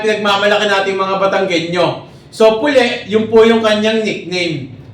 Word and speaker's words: Pule: Ano itong puli beer so ganon pala yung pronunciation no hindi pule beer ano puli beer nag Diner po ito